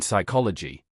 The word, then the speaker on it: psychology: P is silent in psychology.